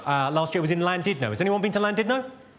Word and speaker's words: Llandudno: out, I said, it's lovely to be in Llandudno. This guy, front and centre, where you're sitting there, face like fucking thunder, went, it's not Llandudno, you bloody fool. It's Llandudno.